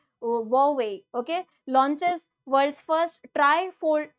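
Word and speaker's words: Huawei: so this uh Chinese company this is not pronounced as UA okay so because H is silent here so we pronounce it like hwei okay launches world's first trifold smartphone launches first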